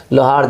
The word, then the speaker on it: लोहार: बिहार में देख लीजिए कोई नहीं है लोहारा कहीं नहीं है है कहीं नहीं हम लोग लोहार है अच्छा उसका स्पेलिंग अंग्रेजी